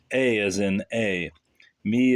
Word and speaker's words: EIMI: So you're 38, correct, and have only just finished your second novel, so-called, entitled E-I-M-I, right, and pronounced A as in A, me as in me, accent on the me, signifying am.